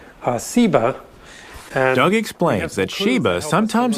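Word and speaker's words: Seba: scholars think is related that has just a different s sound uh siba doug explains that sheba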